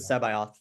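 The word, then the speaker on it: C'baoth: the canon version of Saboeth. Is that how you say his name? He's yeah. He's Joris. In the audiobook, they pronounce it Sebioth. Sabayoth.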